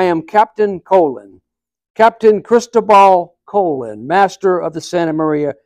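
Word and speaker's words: Colón: captain colon Captain Christal colon Master of the Santa Maria At Your Service he gave a bow Santa Maria colon a bit confused Columbus is the English pronunciation of my name you are Columbus Christopher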